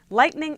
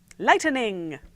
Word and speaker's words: lightning: with an extra syllable lightining no it doesn't have an extra syllable it's just light Ning